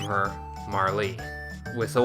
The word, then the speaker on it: Marle: The way that that is spelled implies that her name is Marl. That sounds really weird coming out of my mouth. I very much prefer Marlee, but that's not how you spell Marlee. So we're going to name